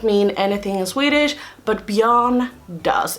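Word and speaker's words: Björn: John is a Swedish name and it's not Bjorn it is spelled John Bjorn doesn't mean anything in Swedish but beyond does it's a name but it's also the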